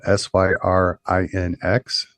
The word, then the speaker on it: syrinx: Then this next one is spelled SYRINX, syrinx.